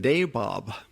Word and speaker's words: nawab: But when the English came and imposed their rule, they were also called nawabs. Well, in English, of course, they changed the pronunciation and it became nawab and even nabob. So you may have heard